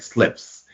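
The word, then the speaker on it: Sylphs: It's like Syphes. I have to look it up. I didn't win the spelling bee, but you can look it up. And they're called slips, but that's how you say it, like slips.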